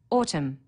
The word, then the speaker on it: autumn: needs a capital letter autumn silent n on the end through one of the